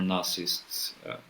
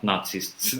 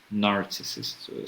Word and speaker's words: narcissists: realize that there are narcissists. Not not Nazists. Nazists. Uh I'm sorry for my Yeah. Yeah. I'm sorry for my pronunciation because it may sound very wrong. Not Nazarissists, narcissists. So, yeah, that's what I